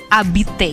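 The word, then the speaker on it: habiter: ketemu sama Abi teh kita bilangnya zabit Kenapa karena abite diawali dengan huruf H Lalu kenapa hanya ada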